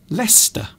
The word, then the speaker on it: Leicester: to say i suppose another example is lester leicester which is a large town in the uk in the midlands leicester so it is often